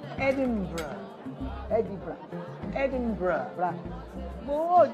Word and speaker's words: Edinburgh: on this one is very covered it's not edible it's edinburgh yeah so i think yeah i